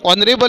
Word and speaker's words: honorable: Then honorable, spelling beginning with the H, but we have to speak pronunciation like honorable is there, so we have to write AN.